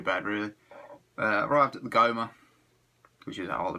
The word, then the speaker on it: GoMA: me that the gallery of modern art or goma as it is pronounced on the south bank of brisbane as